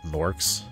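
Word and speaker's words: Gnorks: In the first Spyro game, you have to like run around defeating these enemies called Norks.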